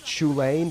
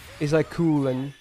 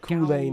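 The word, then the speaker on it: Chulainn: Like, you know how his name is like Chulane? That's not how you pronounce it. It's like Kulen or something, Kulane or something like that.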